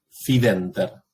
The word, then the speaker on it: fidenter: Fidenter. Penúltima sílaba está seguida, no se ve acá, de una NT. Es decir, una consonante doble. Entonces, esta sílaba se alarga por posición.